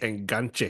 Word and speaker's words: enganche: Enganche. Is that how you pronounce it?